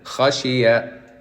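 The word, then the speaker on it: خشية: You said kha, you put alif. There's no alif. Khashiyah.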